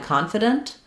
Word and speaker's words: confident: So for confidant versus confident, the difference here is that in confident, we stress the con syllable. In confidant, we stress the dant syllable.